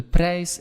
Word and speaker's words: prijs: De prijs, again, remember that I and that J, pronounce it as an English A, right?